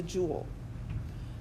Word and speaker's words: joule: It's called the joule. So it's kind of a funny spelling, Joule. It's pronounced jewel, like a jewel in the king's crown or something.